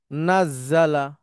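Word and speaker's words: نَزَّلَ: তখন এটার উচ্চারণ হচ্ছে নাজজালা।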